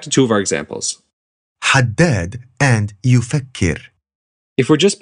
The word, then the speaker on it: haddad: And this is haddad rather than haddad.